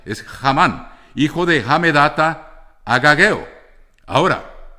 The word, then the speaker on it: Hamán: Tengan en cuenta que esta palabra en el hebreo se escribe con H. Sería, como en inglés se leería Hamán.